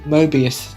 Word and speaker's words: Mobius: thought I'm correct myself I then remember that I said it wrong let's try again Mobius and Loki have arrived